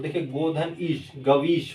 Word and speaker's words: गवीश: वह होगा, ठीक है, लेकिन जब आप उच्चारण करेंगे तो अव या आव की ध्वनि आएगी, ठीक है, गवीश, गवीश, ठीक है।